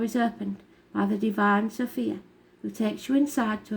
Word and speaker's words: Sophia: Sophia, pronounced Sophia, is in Greek, Chochmah in Hebrew, and Sepetia in Latin.